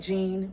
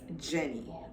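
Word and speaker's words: Jeanne: spelled a little differently it's spelled j-e-a-n-n-e i know it sounds like gene or genie or i get it all i get janine i get jian it's none of that it's jenny um a lot of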